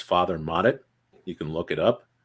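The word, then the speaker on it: Mottet: had theirs names father modit you can look it up uh sound it out it's spelled like it sounds m-o-t-t-e-t he actually wrote books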